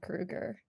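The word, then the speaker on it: Kroeger: have one-sided beef with Chad Kruger. It's Kruger apparently. Is it like Freddie? Yes, apparently that's how it's Okay. pronounced, and I learned because I may have said potentially that Chad Kroger looks fucking old now,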